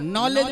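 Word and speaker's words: knowledge: अगर आपको इंग्लिश सीख रहे हैं तो नॉलेज में के साइलेंट हो जाएगा, नाइफ में के साइलेंट हो जाएगा, कहाँ उसका अर्थ नहीं निकल पाएगा।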